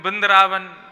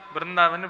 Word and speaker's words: वृंदावन: नाम कैसे भी बोलो, जैसे पंजाब के लोग हैं वो कृष्ण नहीं बोलते, किशन बोलते हैं ना, उल्टा सीधा ही बोलते हैं, कुछ भी बोल देते हैं, बिंदरावन, वृंदावन बिंदरावन, ऐसे थोड़े बहुत अशुद्ध उच्चारण करते हैं ठाकुर जी के नाम का, स्थान का, धाम का।